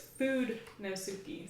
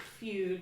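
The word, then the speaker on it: Fudenosuke: because I never knew but its food no Sookie so it's not Feud but when I say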